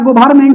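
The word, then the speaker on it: government: इनका स्टेटमेंट क्या था गवर्मेंट जी ओ ब ई आर एन होता है एन साइलेंट है गवर्मेंट ठीक है साइलेंट व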